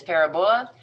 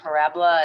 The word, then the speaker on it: parabola: some people think that a most common mispronunciation is parabola but it is actually parabola it's not a very